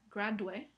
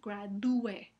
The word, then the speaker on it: gradúe: Entonces la palabra no se pronuncia gradue, sino gradue.